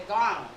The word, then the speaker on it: Ghana: Send me back to Ghana.